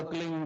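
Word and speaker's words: क्लीं: की मात्रा और बिंदी उसका उच्चारण होगा क्लिंग ग की ब निकलेगी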